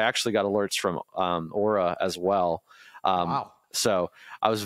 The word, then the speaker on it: Aura: saying it correctly now they let me know that ARA is not the correct pronunciation I'm sorry Aura thank you for letting me know uh anyway um so